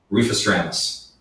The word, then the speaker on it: Refestramus: Refestramus.